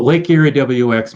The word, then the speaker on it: LakeErieWX: Oh, LakeErieWX Marine Weather. Okay, you do pronounce WX.